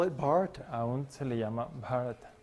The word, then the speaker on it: Bharata: y así dice, Not India, Bharata. dice Bharata. No, Bharata. Bharata. Yeah. Yeah, it's a Long long A.